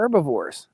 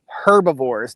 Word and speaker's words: herbivore: not grain ofor they're herbivores and they're not herbivores the H in herbivore is silent uh it's not a herbivore how many cows we're